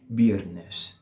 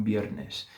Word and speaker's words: viernes: Então esse é o R que a gente quer. E o S, como vocês podem ver, eu estou pronunciando ele dessa maneira sibilante que deve estar fazendo seus ouvidos sangrarem agora, tá?